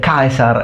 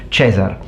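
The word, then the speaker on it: Caesar: How can we know that Romans actually pronounce said kaisar and not chzar?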